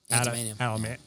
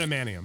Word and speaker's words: Adamantium: So that's interesting, and I like how they tied in Antimanium. Antimanium. I can never say it right. Adamantium. There we go.